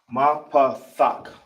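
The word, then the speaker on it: מפתח: This is how you pronounce it out. Ki is ma. Then you got pa. Then you got thak.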